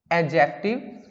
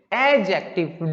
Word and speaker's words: adjective: That is, first one is verb, second one is noun, third one is adjective, and focus on the pronunciation as well. This is not adjective, this is adjective. D is silent here.